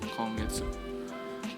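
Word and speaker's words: 今月: Ya, walaupun kanjinya sama ya, ima dengan tsuki. Tapi dibacanya beda, kongetsu.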